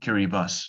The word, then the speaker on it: Kiribati: on kiribati so kiribati i'm saying kiribati not because it i'm saying it wrongly but because ti in kiribati's language is s so it does actually kiribas not kiribati so it's got many islands